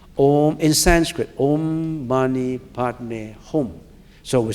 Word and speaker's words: Om Mani Padme Hum: And that mantra is an ancient mantra, and the way we pronounced it is Om Mani Padme Hum. Do you see the pronunciation? Om in Sanskrit. Om Mani Padme Hum.